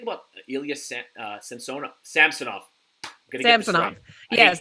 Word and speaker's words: Samsonov: Ilyas uh sensona samsonoff samsonov yes they did specify it is Samson not Samsung someone with a name